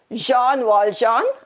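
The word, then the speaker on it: Jean Valjean: in a rough voice jean walljohn i've given you how to pronounce it to be pronounced as jean wall john that's the name of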